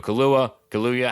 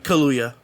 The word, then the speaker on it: Kaluuya: Film stars Daniel Kaluuya. How do you say his last name? Kaluuya or Kaluuya? Kaluuya, I think.